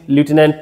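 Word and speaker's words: lieutenant: Correct spelling বুঝতেই পারছিস obviously, লিউটেন্যান্ট, হ্যাঁ না? এটাকে বলে থাকি লিউটেন্যান্ট, এটা প্রোনাউন্সিয়েশন লেফটেন্যান্টও বলে অনেকে, তাই না? But better use এ লিউটেন্যান্ট।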